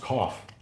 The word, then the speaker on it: coif: Pronounced coif. You sure? I've heard it pronounced cough. Coif would make sense.